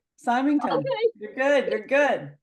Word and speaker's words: Symington: said your name wrong. No, it was right. Symington.